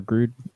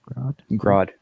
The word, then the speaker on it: Grodd: Yeah, Gorilla Grodd on or Grood Grodd. Grodd. Okay, I said it right. On Justice Groot. League. I didn't say Groot. I said Grood.